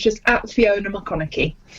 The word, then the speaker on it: McConachie: it's just absolutely owner mcconaughey mcconaughey okay mccoy like matthew mcconaughey but spelt with a ch instead of a gh okay here we are